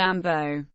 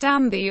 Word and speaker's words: ambo: For example, an ambulance paramedic is called an ambo, and is never pronounced ambi or amber.